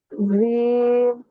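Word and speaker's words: جيم: জিম জিম আপুর উচ্চারণটা ঝায়ের মতো চলে আসতেছে, ঝায়ের মতো। এই এটা ঝায়ের মতো ব্যবহার হয়, জিমের মধ্যে না, একটু শক্ত হবে।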